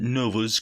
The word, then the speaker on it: Novar: We arrive at Nova's crib. We get an almost one-page splash of a guy named Novar, which is pronounced as Nova, who mentions that his pronouns are he, him.